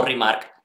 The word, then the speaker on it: RMRK: Por supuesto, ya sin más dilación, voy a deciros que el proyecto del que estamos hablando es RMRK o Remark, que es como realmente se pronuncia.